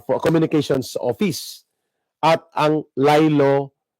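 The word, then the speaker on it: Laylo: Res, ang Presidential Commission uh for Communications Office at ang Lilo It's it is spelled L A Y L O. Lilo.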